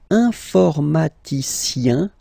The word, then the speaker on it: informaticien: And the last group is IEN, informaticien, yin, yin, yin. So that's the way to pronounce this IEN, yin, yin.